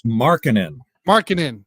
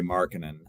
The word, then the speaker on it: Markkanen: I always say this name wrong. Was it Laurie McCarkin? I believe it's Markkanen.